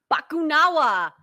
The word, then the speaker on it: Bakunawa: uh the eater of moons how do you pronounce bakunawa bakunawa yeah he looked epic is he also from